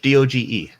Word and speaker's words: Doge: Doge, D-O-G-E.